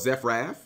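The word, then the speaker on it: Zefra: used to be called it's now called zephra at least that's how people have told me it's pronounced in my comment section so I'm going to roll with that fairy tale Luna is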